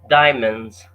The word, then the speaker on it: diamonds: loved diamonds she loved diamonds the D is simplified almost out the D is not pronounced it was taken out